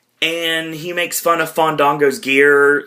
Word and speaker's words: Fandango: He's like, "My name is Fandango." Fandango. We gotta let the A's breathe.